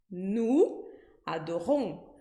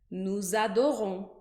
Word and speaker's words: nous adorons: Nous, adorons. Mas quando eu coloco essas duas palavras juntas, vai aparecer um som de Z. Z. Então, eu vou pronunciar nous adorons. Nous adorons.